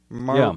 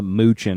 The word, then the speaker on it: Maruchan: Maruchan. The Mexicans called it Maruchan. Maruchan, and I love that because we called it Moochin in Minnesota. We just didn't even try to pronounce it.